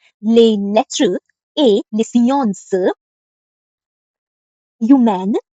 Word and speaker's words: humaines: Les lettres et les sciences humaines, the H is avoided, ne m'intéressent pas.